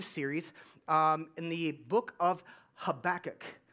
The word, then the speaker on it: Habakkuk: in the book of Habakkuk. Say Habakkuk. And some of you are like, you're saying it wrong. It's Habakkuk, and there's all kinds of different pronunciations. That's fine. I'm calling it Habakkuk.